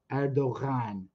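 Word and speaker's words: Erdoğan: the it makes the it makes the vowel before it long super confusing if you that g is originally a letter in arabic called gene so if you hear if you hear an arab pronouncing erdogan they would say erdogan yeah so you know if you go to azerbaijan they say that letter but in turkish it's called the um a soft g so it's kind of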